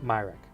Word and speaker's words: Myrick: Svante, how do you pronounce the last name? Myrick.